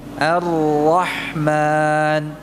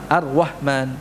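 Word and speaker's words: الرحمن: arwah arwah Harusnya apa ya ar-rahman ya bukan ar-rahman arwah harusnya gimana ratazimnya Allah ya ya mungkin jamaah jarang ya mendapati tapi kami biasanya yang menerima setoran ya itu kadang mendapati sebagian penuntut ilmu membacanya Apa arwahman jadi kayak ada wawunya ya arwah arwah gitu ya arwah harusnya bagaimana tanpa mencucu dan apa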